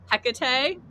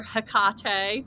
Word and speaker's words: Hecate: Yeah, we talked today about Hecate or Hecate. We were like trying to decide on pronunciation, but we decided Hecate.